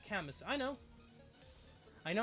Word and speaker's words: Camus: So, if you're new, be aware that Camus and Xander Grand Hero are somewhere in the horizon.